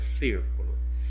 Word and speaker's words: círculo: Vamos separar a palavrinha círculo. Círculo. Vamos verificar qual que é a sílaba tônica, aquela pronunciada com mais intensidade. Círculo, círculo. Olha, o cir.